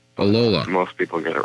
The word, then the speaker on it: Ollila: It's pronounced Ollila. Ollila.